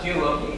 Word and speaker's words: Geoloqi: here to talk about gei is actually the way I've been pronouncing is that correct okay excellent I forgot